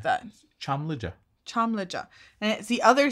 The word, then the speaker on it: Çamlıca: But to remember to pronounce it like that. Çamlıca.